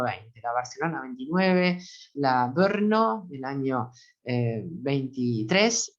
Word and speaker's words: Brno: B larga RNO, pronunciada Brno, que erróneamente se la conoce como la Bruno.